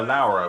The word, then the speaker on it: Laura: See, they call her Laura, which is how you actually pronounce Laura in Italian.